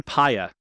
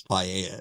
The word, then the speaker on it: Paya: Stephen Paya. Oh, I read it as Paella at first, and I'm like, that can't be right.